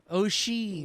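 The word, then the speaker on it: Oisín: O'Sheen. Love an accent. Oshin. Like Charlie Sheen.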